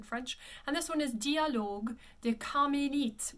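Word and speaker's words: Dialogues des Carmélites: And this one is Dialogue des Carmélites, with that accent aigu again, it closes at Carmélite.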